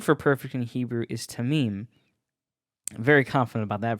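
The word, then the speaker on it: תמים: um the word for perfect in Hebrew is tamim very confident about that pronunciation this is translated to complete intact unscathed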